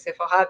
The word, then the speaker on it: Sephora: But Sephora, I mean, the pronunciation is Sephora because it's a French company with the cosmetics, makeup, and everything.